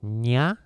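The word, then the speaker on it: ニャ: It's nya, which might be difficult for you to pronounce.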